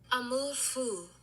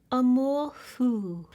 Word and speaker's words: Amour Fou: Where's the pronunciation, YouTube guy? Amour Fou, French. Amour Fou.